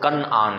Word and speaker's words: کنعان: کنعان کہا جاتا ہے، بعد پڑھنے والے اس کو کنعان بھی پڑھتے ہیں، اصل تلفظ کنعان ہے، کاف کے اوپر زبر۔ یہ کنعان کے ایریے